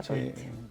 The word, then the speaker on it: Katowice: Polonia, pues estuve enseñando cómo se decía Katowice, Katowice. que se escribe de otra manera, en Polonia, en polaco.